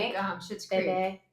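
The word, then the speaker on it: Bébé: It's like bebe. Yeah, I got corrected on that. It's like French for baby. It's I like think. Schitt's Creek. Bebe.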